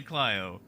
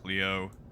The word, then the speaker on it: Clio: looked it up and it was like kalayo hilayo plyo it's like all right it's definitely clyo and then and then and then it wasn't fine fine i'll go with i'll go with cleo i don't want to